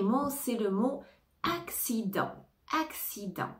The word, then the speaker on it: accident: c'est le mot accident accident attention ne prononce pas le T à la fin accident accident accident accident